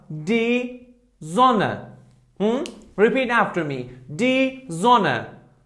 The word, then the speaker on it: Sonne: Okay, here, look, if after S we have these alphabets, I mean A, O, U, I, E, A umlaut, O umlaut, U umlaut, and epsilon, then S should be pronounced like Z. Like Z. For example, here we have die Sonne.